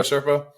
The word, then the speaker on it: Serpa: Is it Serpa, or how you say that? Yeah, that's how you say it, Franco Serpa.